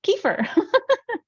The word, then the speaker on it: kefir: was really great um I now know how to pronounce kefir I was not pronouncing it kefir I was pronouncing it like Kiefer on that subject I